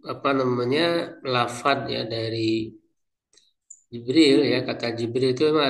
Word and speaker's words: Jibril: J kata Ibnu Katsir ya, pembacaan lafaz Jibril itu ya ada 10 ya, ada 10 cara membacanya. Bentar. tadi Jibril ya. Jadi ada Jibril, ada Hilang tadi ada kalau enggak salah ada apa Jibrail ya? Ada. Jadi ada 10 ee pembacaan ya untuk kata Jibril itu.